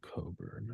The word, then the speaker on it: Cockburn: Pronounces it Coburn. It's Cockburn, but Cockburn.